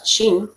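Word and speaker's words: שין: Esta suena como sh, como cuando uno hace un silencio, sh, ya, así se pronuncia la shin.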